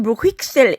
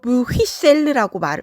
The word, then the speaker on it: Bruxelles: C'est à Bruxelles. 북프랑스 파리 사람들은 브휘셀 x 발음을 하고요. 남프랑스로 갈수록 브휘셀르라고 발음합니다. 두 발음이 다 맞습니다.